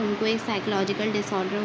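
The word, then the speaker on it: psychological: होता है जहनी बीमारियां ये पीस में साइलेंट होता है यहां से हम इसको पढ़ते हैं साइकोलॉजिकल डिसऑर्डर डिसऑर्डर कहते हैं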